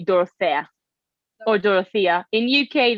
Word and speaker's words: Dorothea: So you can call me Dora, but you can say Dorothea or Dorothea. In UK, they call me Dorothea, That's what I thought. but my name is Dorothea.